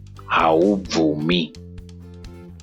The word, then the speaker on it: haubvumi: I know this is a bit difficult to pronounce, especially the consonant BVU, which is va, ve, vi, vo, vu.